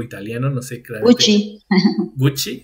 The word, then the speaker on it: Gucci: Gucci, Gucci, sí, se pronuncia doble así. C es como CH.